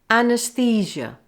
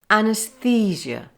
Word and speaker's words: anaesthesia: say fissure fuchsia now let's try the whole word a nurse physio and put them all together anesthesia anesthesia there are two main